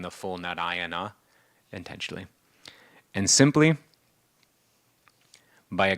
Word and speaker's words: Narayana: given in here that 4 messengers of Vishnu came, one for each syllable, and the last Narayana. That last is one of the messengers who came from. That's why I keep on. Most people, when they say Narayan, they just say Narayan.